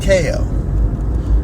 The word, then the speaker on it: Chao: to read that because it's spelled the same way as Chow. But language has always been difficult for people. And for me, it's chaos without the S.